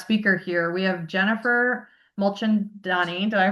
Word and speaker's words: Mulchandani: We have Jennifer Mulchandonni. Did I pronounce it right?